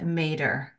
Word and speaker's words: Mader: Today's guest is Robert V. Mader, rhymes with Darth Vader, aka Bob.